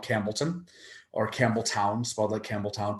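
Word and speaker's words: Campbeltown: campbellton or campbelltown spotlight campbelltown pronounced campbellton uh and there it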